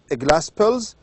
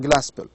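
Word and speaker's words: Glaspell: I think it's one act uh play by Susan Glaspill's sorry Susan Glaspel.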